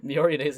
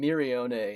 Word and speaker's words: Miorine: I was saying Mirione instead. It's whenever I heard it